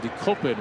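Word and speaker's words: Dekopin: in Japanese d k o p i n decopin which means to flick one's forehead in Japanese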